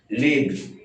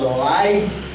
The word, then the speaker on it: live: verb যেহেতু এল আইভি একটা verb চিনি এখানে উচ্চারণটা হবে লিভ লিভ লিভ তো এল আইভি যদি নাউন এডজেক্টিভ এডভার্ব হিসেবে ব্যবহৃত হয় তখন উচ্চারণ হবে লাইভ আর যদি ভার্ব হিসেবে ব্যবহৃত হয় তখন উচ্চারণ